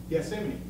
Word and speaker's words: Gethsemane: Somewhere between the Last Supper and before he went to, let me pronounce it right. Gethsemane.